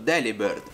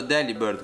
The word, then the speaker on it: Delibird: Pronunciando Delibird con la stessa inflessione di delivered, che significa spedito in inglese, si ottiene un suono molto simile, rendendo la B e la V le uniche variazioni tra le due parole.